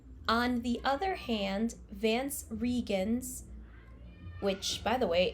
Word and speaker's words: Reigns: the other hand vance regans which by the way it's actually spelled like reigns but apparently it's pronounced regan's in the audiobook so it's really weird